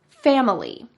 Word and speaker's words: family: Now, usually in American English, we break this word into just 2 syllables. Family. Family. She used 3 syllables, and that middle syllable is very typical of Spanish speakers. She didn't say family. I-ly with a short I, family. She says family, E.